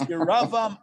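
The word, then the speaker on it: ירבעם: So I think in the English it's pronounced Jeroboam, Ahab, and Manasseh. However, it's Yeravam, Achav, and Manasseh in the Hebrew.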